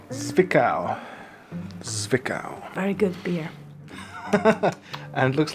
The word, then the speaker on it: Zwickau: Who knows how to pronounce it? Zvika. Zwickau.